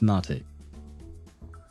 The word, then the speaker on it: mate: And could we get a pot of mate with mint, please? Yeah, so it's pronounced mate.